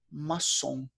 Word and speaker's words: maçon: A palavra é a mesma, a pronúncia é diferente. M-A-S-O-N. Em inglês a pronúncia é mason, mas em francês a pronúncia é maçon.